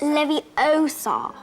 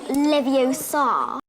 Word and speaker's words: Leviosa: It's Levie Osar, not Leviosa.